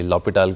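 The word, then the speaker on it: L'Hôpital: थोड़ी सी हंसी आई है समझे की ये लोपिटल क्या चीज होती है लेकिन इसमें ये की इसकी अगर एक्चुअली प्रॉपर स्पेलिंग अगर आप देखें आ तो ये कभी-कभी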